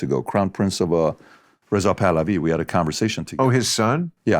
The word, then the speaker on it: Pahlavi: I thought it was Pahlavi was their name. Pahlavi. But Americans say Pahlavi. We say Pahlavi.